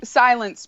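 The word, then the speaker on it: Cylance: team are you writing on now it's uh pronounce it because it's sort of an interesting spelling yeah it's silence pro cycling okay so i've been on silence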